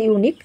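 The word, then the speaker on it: unique: ইউনিক work of আর্ট এখানে ইউনিক আমরা উচ্চারণ করে থাকি জেনারেলি যে ইউনিক তো ইউ কিন্তু এখানে না এখানে কিন্তু একটা ওয়াই এর উচ্চারণ আসবে ইউনিক তাই জন্য ওয়াই যেহেতু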